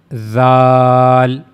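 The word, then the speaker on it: ذ: Zal just use your tip of your tongue and then connect it to the edges of the two top front teeth. And that's how you can easily pronounce zal. And also remember one thing, the sound of zal will be soft.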